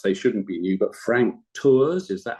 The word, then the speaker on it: Frank Tours: Perhaps they shouldn't be new, but Frank Tours, is that how you pronounce?